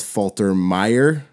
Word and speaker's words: Faltermeyer: Music by Harold Faltermeyer. That's one name total, or two names in one. I said it like Falter, like syllable. I said it in the syllables.